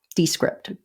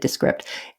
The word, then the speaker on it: Descript: i started using um dscript descript or i guess they actually pronounce it descript is the tool i